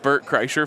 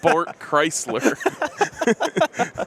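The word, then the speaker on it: Bert Kreischer: huge Bert ker fan yes I knew his name was not bort Chrysler but they literally had a bit on their show about how no one can ever say his name right so I leaned into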